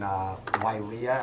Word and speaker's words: Wailea: We'll be in Wailea. Am I pronouncing it correctly?